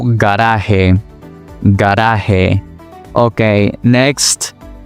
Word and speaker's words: garaje: For example, gato, gato, o garaje, garaje.